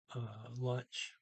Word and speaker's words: lunch: Spiser, eats lunch, lunch, pa. Let me see here. I got a pronunciation note here. Now they're not. They're pronouncing lunch exactly like English lunch.